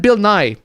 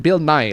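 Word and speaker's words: Bill Nighy: No, actually I I listened to the audio book and he pronounced it Bill Nye like as in Bill Nye the Science Guy.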